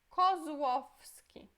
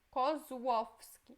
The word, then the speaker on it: Kozłowski: Próximo é Kozłowski. Esse é U, ok? Essa tem som de U. Então, Kozłowski, como se você escrevesse U. Kozłowski.